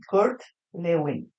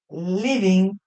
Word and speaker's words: Lewin: En castellano sería así, Kurt Lewin. ¿Qué nació? Moguilno. Imperio alemán actual Polonia. Court living. Lewin en alemán se pronuncia Living.